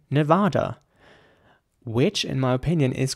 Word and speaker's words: Nevada: as mascara mascara and in American English it's mascara with an air sound and a quite